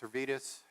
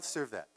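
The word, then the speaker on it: Servet: going back to savitos servitas and I'm pronouncing it wrong say it again Miguel cervet and I pronounce it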